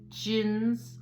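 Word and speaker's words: djinn: Gins. Oh, gins. The D is silent. Gins.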